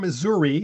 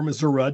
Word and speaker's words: Missouri: Anyway, Jim from Missouri, or Missouri, depending on his own pronunciation, said, a call for pet peeves.